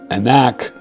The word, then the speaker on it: Anak: The Hebrew term Anak pronounced Anak, the biblical text does not describe them as mythical beings.